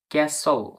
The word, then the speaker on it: castle: এরকম ভাবে CAS, CASTLE, ক্যাসল, ক্যাসল।